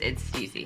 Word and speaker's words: STIIIZY: Some people think it's pronounced STIIIZY, but it's STIIIZY.